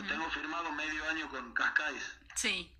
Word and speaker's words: Cascais: Del club de tus amores, que es natación y gimnasia, digo, el año pasado estuviste en Portugal, no sé cómo se pronuncia, Cascais, Sí, Cascais.